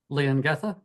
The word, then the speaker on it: Leongatha: So how do you say that? Leongatha. Oh, Leongatha, yes.